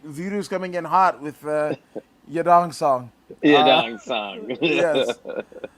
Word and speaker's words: Yadong Song: I th- I think it's pronounced the other way. It's like Zhang Wei Li, but Yadong Song.